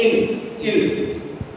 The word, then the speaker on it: il: So you can see here this one is ending with L, and L is final pronounced consonant. So we have to say il.